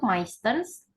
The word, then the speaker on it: meistens: Untuk meistens itu ST. Karena kalau yang ST itu biasanya dia lebih tebal, pengucapan ST-nya tuh sangat jelas. Kayak tadi meistens. Itu kan jelas ya ST-nya tersebut.